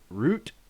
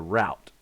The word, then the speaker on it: route: this word ah i americans pronounce this two different ways depending on where you're from so there is root like a root i'm going to down the root or there's a route right and i've heard